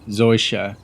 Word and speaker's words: Seuche: First off, he mentioned Project Seuche, or sometimes pronounced Seuche, depending on your German accent.